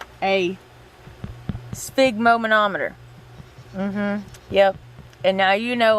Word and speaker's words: sphygmomanometer: the blood pressure cuff is actually called a sphygmomanometer yep and now you know why we call